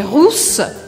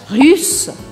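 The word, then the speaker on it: rousse: é vou falar elle russa errou l russo hierro cuidado de não pronunciar riça richa afinal de contas foi isso é russa e não ruiva russa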